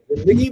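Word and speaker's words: ज़िंदगी: अच्छा लगे या नहीं लगे क्या फर्क पड़ता है, जिंदगी बोलिए या जिंदगी बोलिए, लेकिन जिंदगी बोलेंगे तो आप सही उच्चारण कर रहे हैं।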